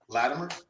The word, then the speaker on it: Latimer: Latimer, which is where you say Latimer. I say it with a it almost sound like a D.